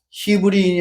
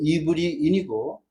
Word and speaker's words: 이브리인: 성경에 그렇게 돼 있지만 실제 한글 발음은 소리 나는 그대로 표기를 하는 것을 따라서 한다고 하면 히브리인이 아니고 이브리인이고 그 이브리인들이 쓰는 언어는 이브리어이고 그다음